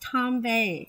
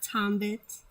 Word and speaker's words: Tombe: yes and it's pronounced tombe it's not tombit it's not tombert or anything it's tom tom bay like buffet that tombe but um